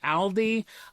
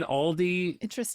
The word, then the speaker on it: Aldi: So, I dusted off the old Okay, full disclosure, the company says it's pronounced Aldi. I have said Aldi my forever.